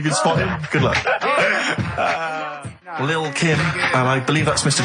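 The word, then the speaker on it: Lil' Kim: Now, Steve, I see there it's a track by Little Kim, but how are you pronouncing it? I'm pronouncing that correctly, Lil Kim. Oh, no T's involved.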